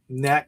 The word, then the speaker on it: Nat: Or she said, nope, it's Nat.